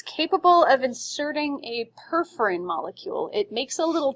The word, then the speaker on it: perforin: So it was perforin? How do you spell that? Perforin. P-E-R-F-O-R-I-N. As in perforate.